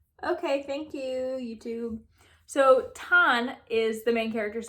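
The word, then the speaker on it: Thanh: don let me let me see how you pronounce her name pretty straightforward okay thank you youtube so tan is the main character's name she's this princess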